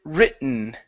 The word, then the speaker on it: written: Let's go to uh the word written. Okay, so um uh it's going to be a uh a fake T here.